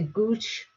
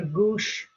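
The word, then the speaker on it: gauche: Now, the pronunciation of the Gooch or Gooch, it's kind of different by different people, different accent, but that's how you write it, and this is how you read it.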